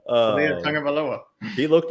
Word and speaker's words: Tagovailoa: I'm not even going to try to pronounce his name. Yeah, Talia. Oh, it's easier than his last name. Talia Tagovailoa.